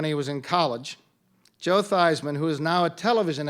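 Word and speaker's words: Theismann: Washington your quarterback who changed his name to rhyme rhyme with Heisman when he was in college Joe Theisman who is now a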